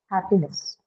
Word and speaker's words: happiness: So, happy is the word, the basic, the root word, which is an adjective, which then definitely is marked on the first syllable. And next is a suffix, which is a neutral suffix. So, no change in the stress pattern.